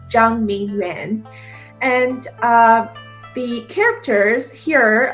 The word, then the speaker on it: Zhang: So when it's spelled as my last name with the H, it makes a J sound, like the J in George. So it's actually pronounced as Zhang instead of Zhen.